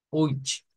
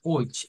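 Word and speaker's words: euch: Decimos que se pronuncia con la misma, miren, CH del ich, con esa CH que es más suave que la CH nuestra, oich, a oich.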